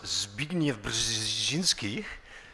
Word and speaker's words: Zbigniew Brzezinski: To throw a curveball at that, I think it was Zbigniew Brzezinski who, thank you, I pronounced that correctly, absolutely did.